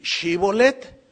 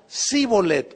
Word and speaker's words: Shibolet: a ver ahora pues di shibolet y él decía zolet O sea no podían pronunciarlo lo cual denunciaba que